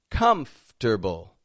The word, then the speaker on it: comfortable: the next one is spelled as a four syllable word but we only pronounce three of them and we rearrange some of the letters comfortable comfortable not that that's